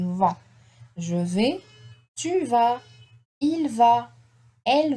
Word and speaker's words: vais: I don't pronounce the S, okay? The A-I. In French, it is A, okay? V. The S is not pronounced.